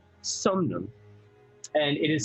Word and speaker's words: Somnum: Arum Somnum. And it is spelled A-U-R-U-M.